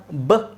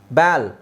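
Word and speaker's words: ball: spelling rules ಅಲ್ಲಿ ಗೊತ್ತಾಗುತ್ತೆ ಈಗ ಇಲ್ಲಿ ನೋಡಿ ಇದರ ಪ್ರಕಾರ ಬಲ್ ಏನಾಗುತ್ತೆ ಇದು ಏನಾಗುತ್ತೆ ಬಾಲ್ ಹೆಂಗಪ್ಪ ಆಗುತ್ತೆ ಬಾ ಇಲ್ ಬ್ಯಾಲ್ ಅಂದ್ರೆ ಒಂದೇ ಎಲ್ಲಿದೆ ಅಂತ ಇಟ್ಕೊಳಿ ಇದು ಬ್ಯಾಲ್ ಬಿ ಎಲ್ ಬ್ಯಾಲ್ ಬ್ಯಾಲ್ ಆದರೆ ಈಗ ನಾವು ಬಾಲ್ ಅಂತ ಉಚ್ಚಾರಣೆ ಮಾಡಬೇಕು ಬಾಲ್ ಬಾಲ್ ಅಂತ ಉಚ್ಚಾರಣೆ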